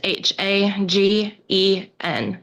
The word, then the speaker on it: Hagen: It's pronounced Hagen and it's a misspelled in the document. Okay. So, is it with two G's? No, sir. It's misspelled in the document. It's H A G E N, Hagen.